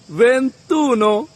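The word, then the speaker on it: ventuno: যেমন 21 21 কে আমরা বলব ভেনতুনো 31 ত্রেতুন 41 কোয়ারানতুন 51 চিনকয়ানতুন 61 সেসানতুন 71 সেতান্তুন 81 অত্যান্তন 91 নবান তুন ঠিক একইভাবে যদি বলি 28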